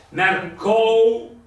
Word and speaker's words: mercou: è 1,5 il tutto, la O avrà 1 e la U avrà 5 perché è mercou, la U la pronuncio appena, è una leccata, mentre invece la O è sostanziosa e lo sta a dimostrare anche il fatto che c'è un accento grave.